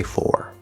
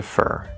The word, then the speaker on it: for: maybe maybe not but the preposition for if it's at the end of the sentence you always want to say four with the r colored o okay or however if it's anywhere else in a sentence the most natural common way to say it is to reduce it to fur if it's not stressed which it's usually not stressed right we've learned that